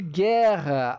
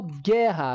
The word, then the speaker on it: guerra: j o Gu de guerra aí eu vou ter também um probleminha para analisar quando eu falo guerra eu não tô falando Guerra é Guerra então meu u aqui pessoal ele não é pronunciado e aqui já parte